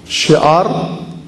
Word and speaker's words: شعار: شعار تلفظ پہلے سیکھ لیں، شین، عین، الف، رے، اس کو کیسے پڑھیں گے؟ شعار حسینی، شین، عین، الف اور رے.